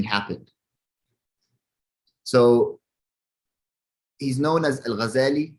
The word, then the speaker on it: Al-Ghazali: So he's known as Al-Ghazali. It's also known that you can pronounce it Al-Ghazali, where the shidda is on the Z, right?